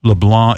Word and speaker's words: LeBlanc: And the premise of the show is that that Matt LeBlanc is LeBlanc is the proper pronunciation.